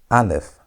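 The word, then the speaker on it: אלף: The first letter is al if alf. And we said the sound is silent. Alf has no sound.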